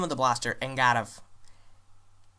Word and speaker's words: Eingarf: The name of the blaster, Eingarf. The first part is an A sound. The R is rolled and the F is like a V. So that's how you pronounce it, Eingarf.